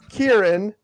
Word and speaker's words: Kieron: You can also find me at my name, which is it's spelt down here. Oh, Sean took it away. It's KIERON. Kieran.